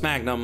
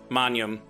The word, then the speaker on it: magnum: dead language and all you pronounce it like you like uh gn manum not like king like um rain trying